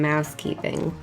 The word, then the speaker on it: mousekeeping: should probably do some mousekeeping what am i waiting for keeping you say what's mouse keeping well it rhymes with housekeeping and it's where i